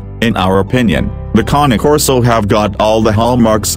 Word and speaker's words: Cane Corso: Among the two, the KAH-NAY KOR-SO pressure bite topped 700 psi while that of a Bull Mastiff measured 556 psi. So 1 point to KAH-NAY KOR-SO.